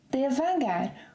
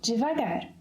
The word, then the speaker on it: devagar: ‘Devagar’, which colloquially can also be said, pronounced, as ‘divagar’.